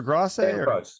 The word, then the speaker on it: Grosse: Is it, how do you say, Gross or Grosse?